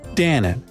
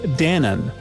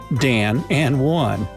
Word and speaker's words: Danone: Before the renaming, lots of customers from the US used to pronounce Danone as two words, Dan and one.